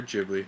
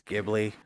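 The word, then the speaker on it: Ghibli: really nice T shading Studio gibli or jibli however you like to pronounce it GI it's gibli we don't bibbly bibbly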